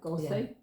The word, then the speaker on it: Goethe: And in terms of academic medicine, this follows the Goethean I'm not sure if I'm pronouncing it right. Goethe?